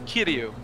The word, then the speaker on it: Kiryu: It's Kiryu. Kiryu. Yeah, not Kiryu or whatever they were pronouncing.